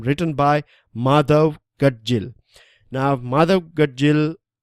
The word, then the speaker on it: Madhav Gadgil: Now Madhav Gadgil is Madhav Gadgil, that's the right pronunciation of the surname of Mr.